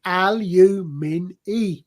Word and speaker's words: aluminium: That's a But little by the bit- way, there is that other I in it now, so it's an extra syllable, so it's aluminium.